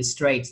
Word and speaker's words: straight: Và cái chữ straight luôn. Âm A chứ không âm I.